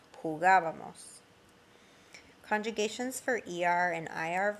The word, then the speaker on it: jugábamos: Notice the accent on the nosotros form, very important. It affects the way you pronounce it. Abamos, like jugábamos.